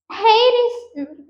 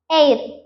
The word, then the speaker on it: heir: Next hair is wrong. Air. Okay, and. So air H is silent.